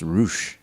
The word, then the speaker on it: Rush: Well, first and foremost, I believe it's pronounced Roosh.